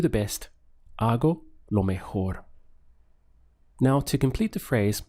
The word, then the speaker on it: mejor: be our go law mejor notice the H sound over here over the J mejor so I do the best are go lo mejor now to complete the